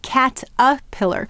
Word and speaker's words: caterpillar: and the r now you'll notice in the word caterpillar we often say cat a pillar this whole syllable becomes the schah sound um and it has